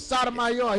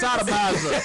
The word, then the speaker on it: Sotomayor: It's Sotomayor. He just came. You gonna quit mispronouncing my name, making I'll it sound say, like I'm look, playing with kids. we just Sodomizer.